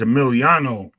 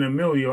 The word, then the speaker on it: Emiliano: gotta say his name right. It's Emiliano. I was Yeah, like, yo, I'm typing Emilio.